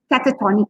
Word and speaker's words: catatonic: you call that uh catatonic for example okay right catatonic catatonic okay the second last syllable is stress catatonic yeah catatonic all